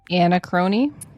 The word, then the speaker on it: Anachrony: And it's like you want to say anarchy, but it's not anarchy.